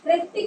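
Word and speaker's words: Hrithik: ऋतिक रोशन बोलते हैं हम, वो अपने नेम के साथ एच लगाते हैं, एच इज साइलेंट।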